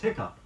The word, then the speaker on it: hiccup: of which is H ICC Oh ugh is pronounced only as hiccup sometimes the spelling is HIC CU p yep